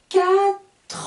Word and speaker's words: quatre: trois enfants je continue attention avec le chiffre 4 4 ça s'écrit qu une hâte et r e donc je ne dis pas 4e jeudis 4 j'entends le tr leuthard j'ai donc j'enlève le e le e et muet je n'entends pas le eux mais je vais entendre les dernières consoles le thé et le r donc quatre enfants je regroupe les deux